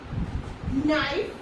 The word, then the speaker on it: knife: Okay, so in letter K, when it is silent when it is used before N. Okay, so here we have some examples: knee, knife, night, knock, no, and